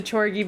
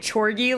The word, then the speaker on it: Chorgy: I like how I'm pronouncing it Chorgy, like Corgi, instead of Chorgy, like orgy.